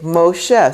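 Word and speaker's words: משה: Moses' name, when you're reading from a Chumash, will say Moshe. So you'll have a mem with this O right there, and you pronounce the O, and that's how you get Moshe, the O.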